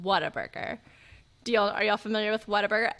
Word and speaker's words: Whataburger: We got to know, is it Whataburger, which is the correct way to spell it? Like what a burger, right? Or is it Waterburger, like water? Because in Texas, we all pronounce it Waterburger.